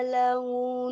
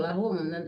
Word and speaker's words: لهم: Wa qala lahu nabiyuhum bukan lahu loh, lahum berubah-ubah terus bacanya.